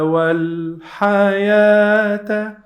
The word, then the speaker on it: الحياة: We are gonna pronounce this part like long vowel alif.